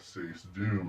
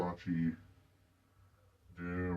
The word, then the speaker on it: Sacedoom: And I got say doom out of it. And sometimes people do pronounce pronounce it wrong. They'll say sachi doom or sack sack doom or that's that one just doesn't make sense.